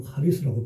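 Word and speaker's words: χάρις: 거기 이제 헬라어로 카리스라고 발음합니다.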